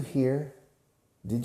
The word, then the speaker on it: heard: you're there here now the past tense is heard the pronunciation changes and it's like adia for her with a d at the end heard okay i heard you